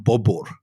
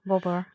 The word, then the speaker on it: Babur: In Uzbekistan, they call him Babur, is the Uzbek pronunciation of his name. Babur.